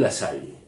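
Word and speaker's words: Lassalle: años porque el jardinal La Salle no sé si alguien sintió hablar de él sí pronunciemoslo bien este la sal es un sindicalista y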